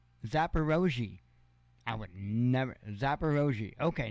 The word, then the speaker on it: Zaporozhye: Zaporozhye. Huh? Really? Zaporozhye. Zaporozhye. I would never. Zaporozhye. Okay, now we know. Now we know. There will be a test tomorrow on this. Zaporozhye power plant in the southern Ukraine.